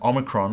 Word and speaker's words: omicron: And it's pronounced like our letter O. The O in not, O, O.